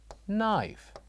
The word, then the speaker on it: knife: So when we say this is knife, what do you think the silent letter is? Is it G, G, H, K, or H? Excellent. The silent letter here is K.